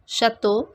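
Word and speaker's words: château: cafe rule number five in french ch always has the sound of show not as that in cheer it is pronounced as show it has show sound first is shares shares shatto shatto after the rules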